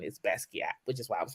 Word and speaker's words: Basquiat: it up even it says that the correct pronunciation is Basquiat which is why I was like let me